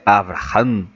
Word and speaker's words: Abraham: o pai Abraham que nós traduzimos como Abraão mas a pronúncia certa é Abraham né para o judeu